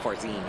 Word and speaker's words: Farzeen: You don't say FARZ. Like more like fur. Like FARZEEN. Like, FARZEEN. Okay. But there's no FARZEEN. Emphasis on the first syllable. It's only on the second syllable.